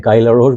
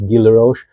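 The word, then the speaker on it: Guy Laroche: Drucker intense by I I always say this name wrong I says it looks like guyla rose but I think it's Gila Roche I I'm so sorry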